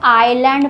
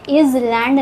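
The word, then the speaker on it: island: For example आइलैंड इसको हम लोग आइलैंड पढ़ते हैं। इज लैंड नहीं पढ़ते हैं।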